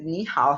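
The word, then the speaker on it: 你好: La regla me dice que cuando esto ocurre, cuando hay dos terceros tonos consecutivos, el primero de ellos tiene que pronunciarse como segundo tono, ¿sí?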